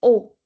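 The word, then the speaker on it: eau: Whenever we have e a u together it's o how do we say water in French O. Yeah. So this is water low like l aos but it's o. So it's pronounced as o as in o orange.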